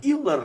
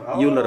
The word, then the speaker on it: Euler: ini di zamannya Pak D kita itu si Leonhard Euler itu, ya. Euler. Euler bacanya ya, bukan Euler ya, bukan.